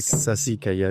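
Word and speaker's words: Sassicaia: Comment on prononce Sasikaya ? Sass sasikaya de pardon Sasikaya.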